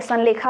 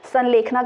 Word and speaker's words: संलेखना: ठीक है, संलेखा आप कहते हैं, कुछ आप लोग प्रोनाउंसिएशन संलेखना करते हैं, वैसे संलेखना ही होता है।